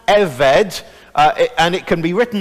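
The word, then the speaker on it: עבד: that big word in the middle and it's pronounced a veg and it can be written now either as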